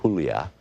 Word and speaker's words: Julia: I began to speak to Julia, pronounced Julia, in Spanish. She seemed happy to hear her mother tongue, but her body language didn't budge.